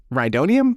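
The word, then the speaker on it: Rhydonium: And then we also get our guy Sawerrera pop up on the car and he's trying to get Ryodonium. Is that how you pronounce it?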